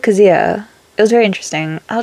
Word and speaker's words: Kazuha: Because she said it, not weird, it's her name, but she said it differently than I would think it's said. Because she said, like, Kazuha.